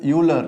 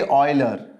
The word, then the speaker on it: Euler: So people call this Euler, right? But it's actually Euler.